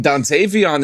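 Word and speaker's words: Dontayvion: The Dantavian. Is it Dantavian? It's just Dant. Yeah. Oh, you said Dantavian. I mean, Dantavon is correct, too.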